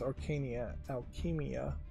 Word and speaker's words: Arcania Alchemia: That's Arcania Alchemia. No C at the end.